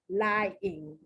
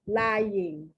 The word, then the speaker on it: lying: Some people say lying, and they don't pronounce the Y at all. Other ones say lying, and the Y is pronounced like the ya, like it's a consonant, like a consonant.